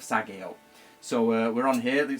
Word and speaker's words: sageo: like a lot of people say sagio instead of Sago so uh we're on